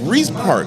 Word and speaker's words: Reese Park: really cool reese park am i saying it right rice or reese park please reese i was ooh i'm glad reese park okay let's talk about